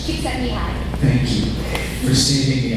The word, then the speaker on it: Csikszentmihalyi: There's a very good Czechoslovakian psychologist, you will know how to pronounce his name. Do you know? It's Csikszentmihalyi.